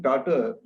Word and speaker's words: Tata: not the real name Tata is not pronounced as t-a-ta it is you know for which you don't have the right answer but I think all right in English it becomes daughter and Tata means pepperish